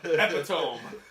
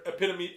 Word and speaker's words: epitome: Future Adam, Epi-Tome. Epi-Tome. Yeah. Remember that time you pronounced the word epitome, Epi-Tome?